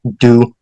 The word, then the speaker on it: Dubus: spelling in America and they do pronounce it dubus but you said you pronounce it du as the original Duo as the original French French yep very well Duo